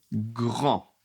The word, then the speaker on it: grand: Par exemple, il est grand. Il est grand. Donc grand, attention, le D n'est pas prononcé.